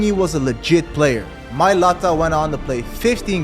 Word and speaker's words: Mailata: sibling, knowing that they've changed the Mailata generation forever? That's the correct way to say it, guys. Mailata on the back of the jersey for the world to see.